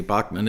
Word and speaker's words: Bachman: Randy Bachman, as we Americans say.